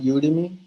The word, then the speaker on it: Udemy: hosting your university on udemy I have never done that so I don't know what you many years it's spelled you do me like an academy but you didn't mean